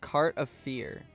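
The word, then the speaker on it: cartof fiert: quiet is that better it's pronounced cart of fear it means boiled potato in romanum Romanian boiled potato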